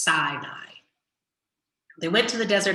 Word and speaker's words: Sinai: to the desert sinai this is pronounced sinai they went to the